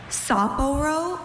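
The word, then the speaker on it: Sapporo: Uh, can are there any alternate pronunciations? Saporro or Saporro?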